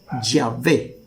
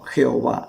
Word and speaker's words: Yahvé: llegaron al acuerdo que la forma correcta para pronunciar el nombre de Dios era yahvé y no Jehová aún ellos llegaron a